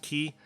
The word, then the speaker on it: Chi: like looking letter for Chi which can also be pronounced key so I'm just gonna